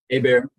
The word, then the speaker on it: Hubert: arraignment good morning Mr Hubert good morning am I pronouncing your last name properly hey bear hey bear okay so the the traditional pronunciation he's French it sounds like a bear she looks sort of